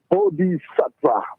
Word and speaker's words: Bodhisattva: My name is Bodhisattva. Bodhisattva. Sattva. Spell it for me. Sattva. Bodhi, Bodhi, and then you have Sattva, Satva, Bodhisattva. TVA, T as in Tony, V as in Vincent, A as in Antoine. So Sattva.